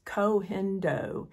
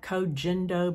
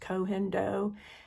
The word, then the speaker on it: Koh Gen Do: because of my dry skin and this is cendo it sounds like Co jendo but it's pronounced cendo it's a Japanese line that's actually made in